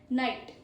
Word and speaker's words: knight: Then the pro tip is KN sounds like a N. GHT is silent. GHT is silent and KN sounds like an N. Night.